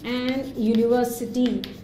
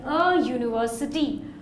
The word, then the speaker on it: university: be he works in a university though you find the letter U though it happens to be a vowel it is not a vowel sound it's a consonant sound see when you see